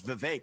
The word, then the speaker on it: Vivek: open up I say my name's Vivek it rhymes with cake it ain't about thee